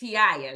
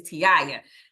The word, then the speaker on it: Taiia: Make sure you say it right. It's Taiia. You might see it spelled one kind of way, but it is Taiia.